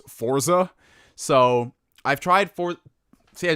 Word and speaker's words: Forza: Have you tried Forza on the Series X? Yes, I have played Forza Horizon, and I finally gotten into the habit of saying Forza versus Forza.